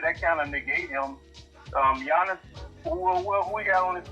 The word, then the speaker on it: Giannis: Giannis, I'm sorry, I keep calling him G. You're supposed to pronounce the G. But Giannis, to me, is a better two-way player.